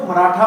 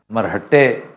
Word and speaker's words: मराठा: India में इस लफ्ज को मराठा बोलते हैं। ये इंडियंस मराठा कहते हैं, मराठी, तो हम मरहट्टे लिखते हैं, पढ़ते हैं, लेकिन मराठा, यू are right, मराठा इज the correct pronunciation.